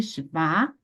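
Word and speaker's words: שווא: Essas palavras se devem pronunciar sempre Shva, tá?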